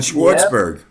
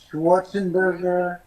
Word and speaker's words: Schwartzberg: way way too Jewish a lot of people would add add syllables to it like schwarzenburg uh it like it wasn't long enough uh so when I